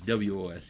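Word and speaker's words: woodwose: uh wood woes yeah and i'm not mispronouncing rose like i'm a toddler or something this is it's wos i assume um yes so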